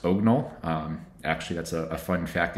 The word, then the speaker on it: OGNL: you take a look they say it's the drunken pronunciation of the last part of orthogonal so i hope i'm saying that right but so ognal is really it's a